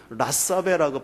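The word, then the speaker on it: לַשָּׁוְא: 여기서 망령되게라는 말이 있는데요, 이 망령되게라는 말을 그 원어로 보면 라사베라고 발음해요.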